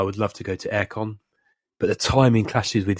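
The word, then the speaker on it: AireCon: Tell me, you're saying Aircon? Yes, how I pronounce it. AIRE Con. Okay. How do you pronounce it? No, that's right.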